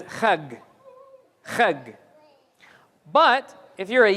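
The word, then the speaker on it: חג: They pronounce this as a kha. But then we also said that Beni Israel were in Egypt for a few hundred years, and so they don't pronounce it as a jim anymore, they pronounce it as a ga. So they would say Hajj as chag.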